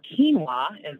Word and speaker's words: quinoa: TAG is stabilized rice bran, quinoa or quinoa, as it's correctly pronounced, amaranth, and chicory.